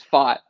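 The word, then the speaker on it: Pfaadt: Brandon thought um he's it's foxy is that fat it's fought yep the old pronunciation strikes again huh all these puns that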